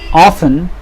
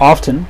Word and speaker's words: often: so usually the compliments often or often you can pronounce it both ways comes after the verb